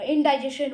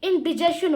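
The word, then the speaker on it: indigestion: ना, इंडिजेशन हो गई, वैसे मैं इंडिजेशन कहूँगा क्योंकि जो इंडाइजेशन होती है वो रॉन्ग प्रोनाउंसिएशन होती है, बहुत सारे लोग रॉन्ग प्रोनाउंसिएशन करते हैं। ठीक, इसको आपको बोलना होता है इंडिजेशन, इंडिजेशन।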